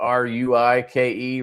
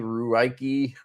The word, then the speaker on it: Ruike: Is it Reich? But it's spelled with a U, Ruike, Ruike, Reich, whatever.